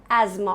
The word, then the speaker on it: asthma: If you're suffering from it, it's called as asthma. Of one of your friends, neighbors is asthma. Okay, asthma. Like as and ma, asthma.